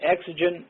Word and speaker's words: exigent: the one you just defined oh that was Exogen circumstances you spell that uh it's two words e ex i